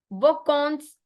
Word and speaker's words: vacances: Bon vacances on. Because जो an है ना, an आपका ओ बन जाता है ओ. vacances. va कौन कौन स. bon vacances.